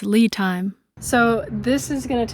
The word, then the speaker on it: LiTime: installing a battery monitor by lit time whoops I mispronounced it it's Lee time so this is going